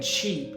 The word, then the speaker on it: cheap: Ship has a short I sound, and cheap has a long E sound.